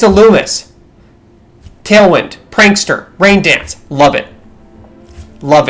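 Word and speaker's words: Illumise: Illumis. I know you pronounce this in a French way. I don't give a shit about French people. It's Illumis.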